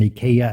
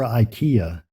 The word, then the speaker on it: Ikea: help desk not know that there was an ikaya at the airport and I'm pretty sure she was thinking what is this crazy person talking about when I left I was looking for Ikea that word is also spelled the same in